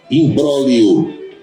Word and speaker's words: imbróglio: Imbróglio, tem o G, imbróglio. O G desaparece, fica imbróglio.